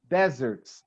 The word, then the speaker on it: desert: that little observation okay the naam is always stressed in the first syllable okay like Sahara is one of the biggest desert in a word okay okay but when I have the verb the stress syllable is not the first car it's the second dessert it okay you